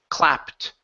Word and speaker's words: clapped: ending okay with the with the ED here it'll sound like a tea so instead of clapping the word is clapped right corrupt good miss